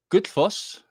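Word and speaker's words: Gullfoss: mixing then i have the good foss which is how you really pronounce it but nobody's able to pronounce it that way uh good fos the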